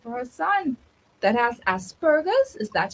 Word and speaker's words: Asperger's: with school placement for her son that has Asperger's. Is that how you pronounce it? Yes, Asperger's.